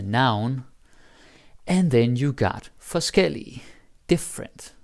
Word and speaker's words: forskellig: And then you got forskellig, different, like the adjective. So forskel and forskellig. Now the pronunciation is also different, right? Forskel, forskellig, different stress.